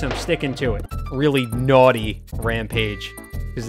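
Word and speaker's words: Gnawty: that's the excuse i'm sticking to it really naughty rampage because it's spelled gn to play on words can we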